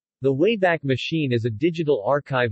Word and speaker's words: WABAC: provide universal access to all knowledge the name wayback machine was chosen as a reference to the wabac machine pronounced way back a time-traveling device used by